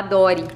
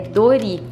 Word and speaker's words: Dori: não sabe a Dori Tem gente que fala Dory principalmente assim no Paraná a gente viu muita gente que fala Dori porque não sabe qual é a pronúncia correta né como é da nossa cidade essa indústria então ó é Dori e tem de tudo